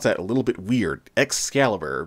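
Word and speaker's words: X-Caliber: a little bit weird excalibur because it's spelled x dash caliber or sometimes just the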